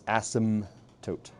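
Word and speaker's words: asymptote: as ASM toot again p is silent ASM no ASM toote no it's Asim well you pronounce the M like an m not an N so it's ASM toote and the horizontal ASM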